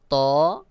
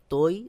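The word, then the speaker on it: طاء: দীন শিন সদ দ ত দ অনেকে বলে তৈ জৈ এটা সহি উচ্চারণ নয় সহি উচ্চারণ হলো ত আইন এবং গাইন আইনের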